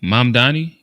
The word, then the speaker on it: Mamdani: Mamdani.